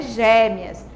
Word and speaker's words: gêmeas: vê um som diferente ó gêmeas né parece que o essa foi mais fechado quando você emitir o edson do é quando você fala você emitir mas fechadinho diferente de como eu falaria gêmeas mas não é gêmeas é gêmeas então eu falo é mas fechadinho a mesma coisa acontece